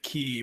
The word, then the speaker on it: Quay: Quay Walker needs the Irish pronunciation of Quay, which is, I believe, key, by the way.